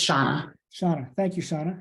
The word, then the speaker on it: Shauna: Yeah, thank you, Shana. And did I say that right? Is it Shana? It's Shauna.